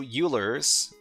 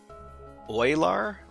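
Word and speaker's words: Euler: So, how do you pronounce this name? Oiler. Oiler. Oiler. Yeah, that's hard for English speakers to pronounce. Oiler. Huh. I'm I don't know if I'm going to keep on pronouncing it uler because it just seems a lot easier. Sounds like Oiler.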